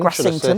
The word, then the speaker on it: Grassington: hoping to walk into grassington y or grassington grassington as the locals say indeed um which